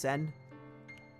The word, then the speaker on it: Seine: It's a river, pronounced Sen. Okay, solve this quandary.